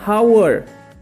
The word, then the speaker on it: hour: An hour. Bunyi awalnya adalah A, hour.